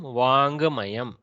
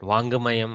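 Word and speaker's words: वाङ्मयम्: So don't pronounce the Gakara too much, because we in the south we tend to do that. Vangamayam, Vangamayam, like that.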